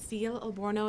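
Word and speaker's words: Ael Elborno: principles here thank you now we'll hear from ail elborno uh executive director of Muslim American Society of Washington in DC good afternoon and thank you for coming today my name is ail aloro it's spelled a e l and last name is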